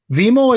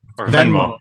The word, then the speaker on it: Venmo: It's on, like, Vimo is some kind of app where, like, if we went out for dinner. Venmo? Venmo.